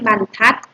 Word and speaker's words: บรรทัด: บรรทัด อ่าน ว่า ไม้ บรรทัด ไม้ บรรทัด อ่าน ว่า ไม้ บรรทัด ถ้า อัน ไหน คะ